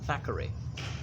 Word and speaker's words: Thackeray: So the house of William Makepeace Thackeray. I do believe it is pronounced Thackeray, not Thackeray.